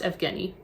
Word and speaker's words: Evgeny: It looks like Eugene, but I'm pretty sure it's pronounced Evgeny.